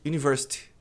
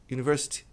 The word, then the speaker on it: university: A maioria das pessoas diz university. University é university ou university. Tem um i no final, tá aí.